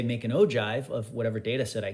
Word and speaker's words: ogive: and by the way this is pronounced o jive like o and then jive that's how it's pronounced but it's spelled with a g pronounced ogive spelled with a g